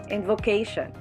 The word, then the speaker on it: invocation: last four syllabic word invocation n is the first syllable vo second syllable k third syllable and sean last syllable the stress is in the third syllable invocation for five syllabic words